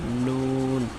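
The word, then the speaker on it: ن: তারপর হলো নুন, জিহ্বার আগা বরাবর মানে উপরে তালুর সঙ্গে লাগাইতে হবে, ঠিক আছে। নুন নু নু নু নু নুন।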